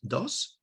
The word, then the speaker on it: dos: And we have the second one here is dos, pronounced like this, dos, with the consonant at the end. And this one is in a normal Eastern Andalusian Spanish, da.